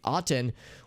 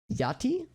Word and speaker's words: Aten: or yeah gerard fect proposed that akhenaten's name is misspelled and mispronounced these historians believe aten would rather should rather be yati thus rendering the pharaoh's name as if it as it could have been pronounced in ancient egypt okay so there's a